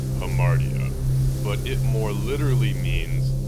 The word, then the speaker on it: hamartia: The term tragic flaw translates from the Greek word pronounced hamartia, but it more literally means to err or missing the mark.